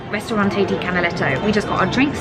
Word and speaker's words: Ristorante di Canaletto: Yeah, it's Ristorante di Canaletto.